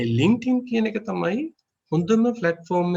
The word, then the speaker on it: LinkedIn: So it's called as LinkedIn. LinkedIn. The pronounce of D is look like Tin, LinkedIn.